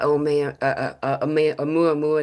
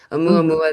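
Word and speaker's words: ʻOumuamua: it's done exactly what Omeua Mua did. I almost said it wrong. a mua mua that the interstellar object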